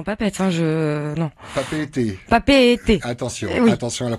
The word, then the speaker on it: Papeete: de conduire dans pape est un jeu non papeete papeete attention attention la prononciation vous en veux pas alors je disais